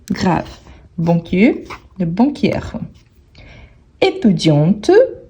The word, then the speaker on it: étudiante: grave banquie le banquierre étudiante on prononce bien le T étudiante pour marquer le féminin le masculin étudi étudi